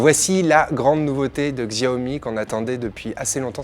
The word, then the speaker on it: Xiaomi: une marque chinoise dont on a choisi de prononcer le nom à la française alors voici la grande nouveauté de Xiaomi qu'on attendait depuis assez longtemps c'est le MI